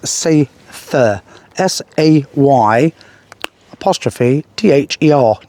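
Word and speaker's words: Seiðr: really do pronounce it cider actually, it's Seither, S-A-Y apostrophe T-H-E-R, not the way it's spelled at all, but that's the way you pronounce it, Seither.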